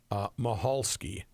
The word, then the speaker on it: Michalski: I received a lot of feedback on the speed skater Michalski. Yeah, there is a Polish speed skater. It spells the same way. Lot of text, and that is the way you're supposed to pronounce it.